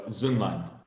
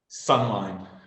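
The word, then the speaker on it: Söhnlein: well it's German and if you actually pronounce it with the two umats over the O it's zuman okay and but you've become accustomed to Americans calling you sunline okay and and as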